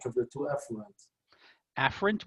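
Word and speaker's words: afferent: of the two eent afren with an A and Efren with an E so a a a afren Efren e again they're not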